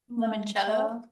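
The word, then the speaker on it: limoncello: Lemonchello.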